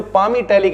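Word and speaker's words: palmitic: मिलेंगे भाई तो जो पाम टालिक एसिड है इसमें एल साइलेंट है पाम इटैलिक एसिड इसे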